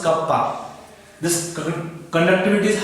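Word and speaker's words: κ: Symbol pronounced as kappa.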